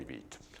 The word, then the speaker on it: Vít: The first name is Vít, V-I-T, call me Vít.